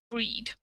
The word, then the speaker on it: Brigid: You light a lot of fires, and it's the holy day of the goddess Brigid, or, well, some pronounce it Breed.